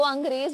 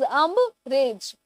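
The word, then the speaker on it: umbrage: अब इसको अंग्रेज मत कर देना, इट इज अम्ब्रेज.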